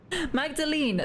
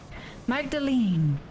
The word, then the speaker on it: Magdalene: be quiet my goodness Magdalene oh was a silent E apparently potentially Magdalene is definitely a British thing Magdalene the E is silent this is this is how